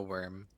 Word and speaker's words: wyrm: Worm as in like dragon or worm as in like worm. E at both? I Well, that's the it what w y r m is how it's spelled.